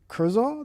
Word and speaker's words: Kurzal: David Kurzal? Did I say it right? Kurzal. You said it fine, man.